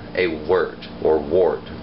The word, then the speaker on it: wort: hops to create what's called a word or wort its perch spelled wor wor T if you see written in a book but it is pronounced word wer T now that word doesn't become beer